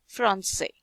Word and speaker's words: français: Usually C is pronounced as a K, but when we put this accent, the pronunciation becomes C, français.